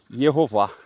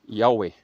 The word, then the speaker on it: יהוה: Ele fala que a pronúncia do tetagrama vinha a ser Yehová, ao lugar de Yahweh.